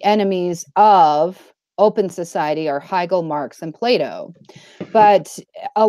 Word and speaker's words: Hegel: How do you pronounce his name? Hegel.